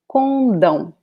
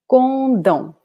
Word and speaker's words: condão: Here we have the last syllable as the strongest one. So we say condão, condão, condão.